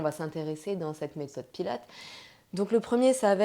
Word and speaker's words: Pilates: En réalité, on prononce Pilates et non Pilates puisque ça vient de Joseph Pilates qui a créé cette méthode et qui a donc donné son nom.